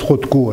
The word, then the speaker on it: Rothko: ou une bannière donnée je prononce rotco à la française hein euh et parosco parce que quand on a acquis une certaine célébrité on a droit d'avoir son nom francisé nous disons pas mozzart